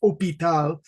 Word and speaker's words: hôpital: So we always make jokes, Like in English and French, the word for hospital, in English it's hospital, and in French it's hôpital, no H, just hôpital, which comes from the word hospital.